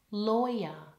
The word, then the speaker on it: lawyer: word law and lawyer the word law rhymes with door The Vow there is or law door lawyer has an oi in it like in the word boy ready lawyer now try it in